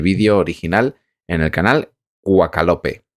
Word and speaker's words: Quakalope: original en el canal Quakalope. Se escribe así, Quack, como si fuera un pato, y Lope, pues sí. Y Lope, pues no sé, como de Vega.